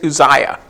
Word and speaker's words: Uzziah: I practiced saying that name before I got here because there's several different ways you could say that, but I looked it up phonetically. It's Uzziah.